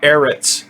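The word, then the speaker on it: הָאָרֶץ: This aleph has no pronunciation, and this little thing down here makes it eret. And then this is the ts sound. This symbol right here. So this is ha eretz, the earth.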